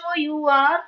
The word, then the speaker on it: hour: Yes H is a silent letter.